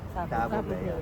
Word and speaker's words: Tabebuia: Tabobea. Ayan. So ito po yung tabobea. Right. So tamang pronunciation ay taboba.